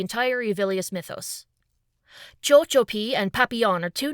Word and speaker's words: papillon: French word for butterfly, papillon, which is spelled with two L's making the y sound instead of a y because, French.